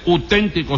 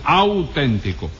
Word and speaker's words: auténtico: Le digo que no se dice uténtico, sino auténtico.